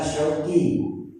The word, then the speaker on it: Syauqi: Nama saya yang diberikan oleh orang tua saya adalah Syauqi, menggunakan huruf shin yang mempunyai arti kerinduan.